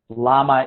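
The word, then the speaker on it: לָמָּה: our life I became Lama and Limbaugh which is spelled the same Lama mem hey Lama is why Lim ma is for what why Lama is a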